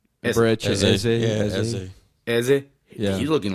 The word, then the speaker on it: Eze: Is it Eze or Easy? Eze.